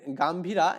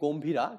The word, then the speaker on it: গম্ভীরা: ভাটিয়ালি জারি সারি ওকে এটা আসলে গাম্ভীরা এখানে আসলে এটা বাংলা হবে কি গম্ভীরা কিন্তু ইংলিশে উচ্চারণ গাম্ভীরা। ঠিক আছে?